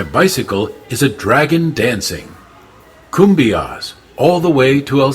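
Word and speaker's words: cumbias: way to El Salvador kumas is pronounced kumas the Kumbia is a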